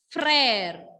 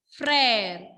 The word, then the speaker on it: frère: So, when laxo grave will come along with letter E, pronunciation will be A.